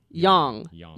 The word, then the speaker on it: Young: Young. With the long O. Yes. Like Young.